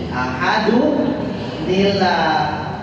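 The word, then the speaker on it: أَحَدٌ ٱللَّهُ: Ahadun tanwin apa? Dhamma. Ketemu hamzah. Jadi apa ini? Ahaduni. Kan tadi rumusnya kalau un jadi uni. Ahadun nila. Kalau di was, qul huwallahu ahadun illahus samad.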